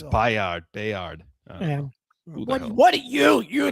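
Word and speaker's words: Byard: I'm not sure how you actually pronounce it. We'll figure that out before the season starts. That's for sure. It's Bayard.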